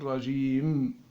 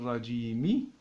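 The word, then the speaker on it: الرجيم: Maintenant, si on lit de cette manière-là, A'udhu billahi minash shaytanir rajim, et on s'arrête. Il n'y a pas d'accent, il n'est pas prononcé. Et si par exemple, cet accent-là est lié avec ce qui vient après, eh bien nous dirons A'udhu billahi minash shaytanir rajimi, rajimi bism.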